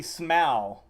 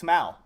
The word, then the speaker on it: Smaug: It's actually Smaug. It's neither of those. Wait, Smo like snow, not Smo like O? That makes no sense. That's the same pronunciation. It's Smaug.